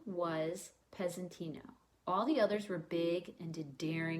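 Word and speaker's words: Pezzettino: and its title is peasanty no and the Z is pronounced as an S it's an Italian word that means little piece his name was peasant inna all the others were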